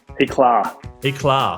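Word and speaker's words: Éclat: Eclar Eclar like a little like tar a little bit means yes it's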